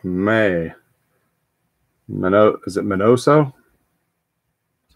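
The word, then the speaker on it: Miñoso: chico we got may my note is it minoso that's how you pronounce it all all right i'm gonna go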